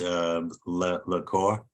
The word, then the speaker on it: LaCour: Your last name is pronounced LaCour? That's right.